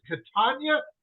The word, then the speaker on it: Catania: you know how to how to pronounce my last name is Katan like lasagna and I'm just like